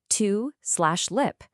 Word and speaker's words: tulip: That gives us to/lip. Now look at that first syllable, to. It ends in a vowel, so it's open. That means the U should be long, which gives us to lip.